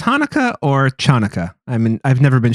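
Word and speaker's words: Chanukah: of his Hanukkah songs it's not pronounced Chuka C is silent in Hanukkah read your hooked on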